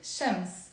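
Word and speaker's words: شمس: Okay, so it's a one-syllable word, Shams, Shams. But sometimes whenever we have one-syllable words in the Lebanese accents, we tend to add like a sound to it to make it easier to pronounce. So instead of saying Shams, you can say Shams. I even say it Shams. We add a m sound.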